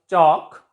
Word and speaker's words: chalk: For example, chalk. L is silent before K.